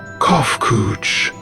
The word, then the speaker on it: Kofkuj: As for nomenclature to address my individual person, I believe it would be pronounced Kofkuj.